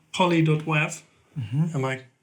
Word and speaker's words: Poly.Wav: You've started a brand called Poly.Wav. Mm-hmm. Am I pronouncing that correctly?